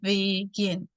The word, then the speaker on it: begin: Por ejemplo, begin, si se fijan, es de dos sílabas, pero mi sílaba del stress, o la que llevaría el acento, sería gin, begin.